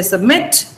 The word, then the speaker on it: submit: The stress is on mit. So you say submit, like permit. Then when you add ed, the stress does not change. So it becomes submitted.